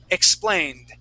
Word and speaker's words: explained: say a t so pull your tongue back you want to say nice and soft explained explained explained okay good so it's not a t sound it's a D sound d d really soft d d all all in your tongue okay good all right